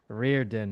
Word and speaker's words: Riordan: Reirden. Cuz because I'm because it's it's one of those names where it's spelled a certain way. It's pronounced a totally different way and I'm like h I know.